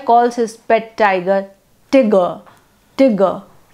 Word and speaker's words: Tigger: Milne, the boy calls his pet tiger Tigger, Tigger, T-I-G-G-E-R, pronounced to rhyme with snigger, which takes away all terror from the animal.